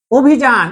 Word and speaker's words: অভিযান: এই যে শুরুতে অবর্ণটা আছে, শুরুতে অবর্ণটা আছে, কিন্তু এরপরে কি আছে? রস্যইকার থাকার কারণে অ এর উচ্চারণটা হয়ে যাচ্ছে ও এর মতো।